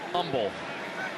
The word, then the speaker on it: Humble: No H. H is silent. Humble.